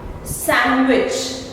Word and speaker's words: sandwich: Sandwich, not sandwich, again D silent.